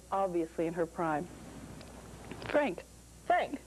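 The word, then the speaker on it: Phranc: Frank. Spelled with all those Frank consonants. P-H-R-A-N-C. Frank.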